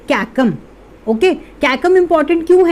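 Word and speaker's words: caecum: ठीक है, इसको क्या प्रोनाउंस करते हैं, कैकम।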